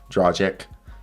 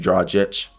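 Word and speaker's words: Dragić: got gornjic right dragic someone told me I was saying Goran dragic drawjic it's supposed to be draw Jets so am I saying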